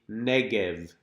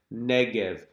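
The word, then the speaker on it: נגב: We call it the Negev. Try it. Negev.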